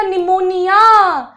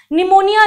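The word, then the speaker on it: pneumonia: हो गया था बेटा निमोनिया निमोनिया जिसका पी साइलेंट होता है शी फेल इल बिकॉज़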